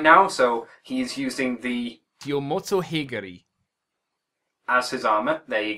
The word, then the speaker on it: Yomotsuheguri: I'm gonna dub the audio later because I'm not sure exactly how to pronounce it right now, so he's using the Yomotsuheguri as his armor.